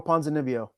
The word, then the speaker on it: Ponzinibbio: Yeah, Santiago Ponzinibbio.